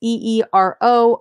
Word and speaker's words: Eero: This Eero, I think is how you say it. It's Eero.